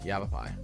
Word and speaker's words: Yavapai: Yavapai.